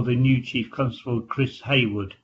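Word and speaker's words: Hayward: new chief constable chris haywood it's h-a-y-w-a-r-d but pronounced haywood um his intention is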